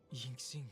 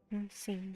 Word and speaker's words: Yingxing: Yingxing is Yingxing.